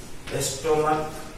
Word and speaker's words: stomach: जैसे में स्टोमक, STOMACH, यहाँ CH का उच्चारण क है इसलिए इसमें ES नहीं जुटेगा।